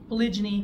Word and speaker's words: polygyny: did this but polyg polygyny which is the proper way to say it but the gy is what it's referring to the gyum which is the female part so that's one male